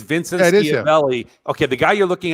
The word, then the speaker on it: Schiavelli: I don't know, but Dan is not pronounced Chevelli.